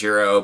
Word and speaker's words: gyro: I know the proper way to say that is euro, but it's confusing because Europe's currency is the euro.